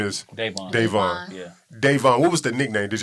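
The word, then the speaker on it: Dayvon: King Von before King Von because how you pronounce his first name is yeah Devon what was the nickname did you have a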